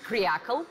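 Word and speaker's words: креакл: It's pronounced as kryakl, which is a pejorative for trendy-looking men and women who put their comfort above their country.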